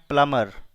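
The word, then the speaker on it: plumber: याद रखेंगे यहां पर बी साइलेंट है, इसे पढ़ना है प्लमर।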